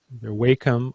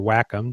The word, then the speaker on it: Wacom: with the uh uh the wum or Wacom depending how you want to pronounce it uh sensitive tablet